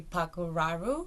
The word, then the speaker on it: Păcuraru: So in Romanian you have a little hat on top of the A, which is pronounced A. But the thing is, when I fill in forms or anything here, obviously I can't put the hat on. So the British version, I think, would be Păcuraru.